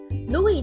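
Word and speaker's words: Louis Vuitton: 就是路易威登 Louis Vuitton Louis Vuitton Louis 的 S 不发音 Vuitton Vuitton 的 V 是 video 蛮像的。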